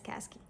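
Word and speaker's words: Kazky: I think you pronounce it as Kazki. K-A-Z-K-Y. Phonetically, that's what that says.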